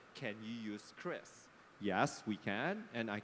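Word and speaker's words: QRIS: the TV explaining it is not curious It's not QR is it's Chris so this is a you know a proof of a real player in the ecosystem that is pronouncing it correctly thank you Chris okay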